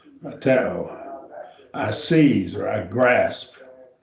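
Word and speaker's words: κρατέω: Krateo. 3 syllables. Krateo. Krateo.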